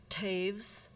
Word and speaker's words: Taves: this incredible honor and my name Taves rhymes with saves please forgive me for